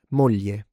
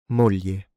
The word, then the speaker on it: moglie: famiglia famiglia family moglie moglie wife aglio aglio garlic How did you like that?